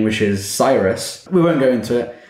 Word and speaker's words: Cyrus: do you spell that sir cyrus it's like miley cyrus except that will be